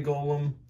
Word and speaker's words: golem: golem and the clay golem i recently learned that you pronounce it golem and today we're going